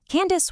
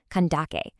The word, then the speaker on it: Kandake: Candace wasn't actually a personal name at all. Actually, it was just the Greco-Roman mispronunciation of a Meroitic royal title, Kandake.